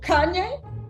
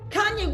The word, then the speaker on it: Kanye: conned a certain someone whose name rhymes with any and starts okay oh Kanye Kanye West into believing she